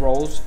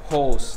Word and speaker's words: Rolls: and Gracie admired holes I I think that's the correct pronunciation instead of rolls holes holes get Gracie Hickson admired